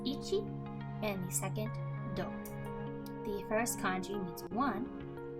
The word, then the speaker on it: 同: The first kanji is pronounced do, and the second name.